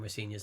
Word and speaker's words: Rosenior: My dad says Rosenior, which is the way to pronounce it, but as long as it's nice, you say something nice about me, I don't mind.